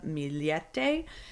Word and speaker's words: Millete: unsolved missing person's case maya migliete i believe that's how it's pronounced a 39-year-old mom of